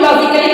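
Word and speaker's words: logically: तो ये होती है जहां पर आई सी ए डबल एल वाई आता है वहां पे हम ए को साइलेंट रखते हैं ए का पसेशन नहीं करते हैं जैसे एल ओ जी आई सी ए एल एल वा यानी लॉजिक इसको हम लॉजिकली नहीं पढ़ेंगे व इसको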